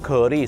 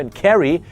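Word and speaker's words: Kerry: สินค้า ก็ เลย ครับ ชาว ไทย ออก เสียง เคอรี่ ใส่ อย่าง นั้น ทั้ง ๆ ที่ มัน เป็น ตัว E ต้อง เป็น สระ เอก ก็ เป็น แครี แต่ เป็น เคอรี่ เห็น ไหม ฮะ จะ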